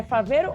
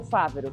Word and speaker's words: Favero: É Faveiro ou Fávero? Como você pronuncia? Os dois.